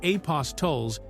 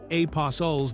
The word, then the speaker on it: apostles: The traditional pronunciation of apostles in modern English typically treats the T as silent or very soft, similar to how we say castle or whistle without emphasizing the T sound.